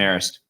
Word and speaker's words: Marist: I think that, that game against, I don't even know how to pronounce it, Marist. Am I saying that right? Yeah, Marist.